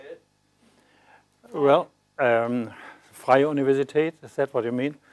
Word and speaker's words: Freie Universität: Well, Freie Universität, is that what you mean?